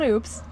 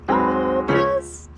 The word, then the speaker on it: Oupes: Well, it's not oops. It's not oops, it's Oupes.